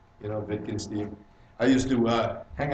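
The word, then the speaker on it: Wittgenstein: right very good yeah in German he's Austrian you know the W is pronounced like a V you know vikin steeve I used to uh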